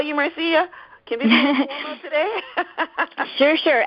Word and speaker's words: Marcia: Can I call you Marcia? Can we be today? Sure. And, actually it's pronounced Marcia, even though it's spelled like Marcia, yeah. Oh, okay, so Marsha, like the Brady Bunch.